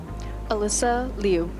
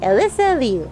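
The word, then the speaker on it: Alysa Liu: How to pronounce Alisa Lou or Leu? Alisa Leu. And yeah, let's do this one. Alyssa Leu. All right. Alyssa Leu.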